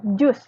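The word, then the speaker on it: juice: Kalau jus itu bahasa Inggrisnya sama ya, jus juga, tapi tulisannya beda. Tulisannya bisa dilihat di layar, J-U-I-C-E. Dibacanya tetap jus.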